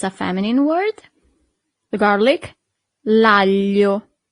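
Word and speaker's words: aglio: Here we have this combination of letter that for foreigners is always a little bit e hard to pronounce. Sorry. It's g a l i. That's the sound.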